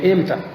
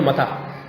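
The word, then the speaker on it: متى: اب متا کو بعض اہل عرب بگاڑ کر یوں کہتے ہیں لہجے میں ایم تھا. کیا, اب ہم نے تو متا پڑھا ہے تو یوں کر کے بگاڑ دیں ایم تھا.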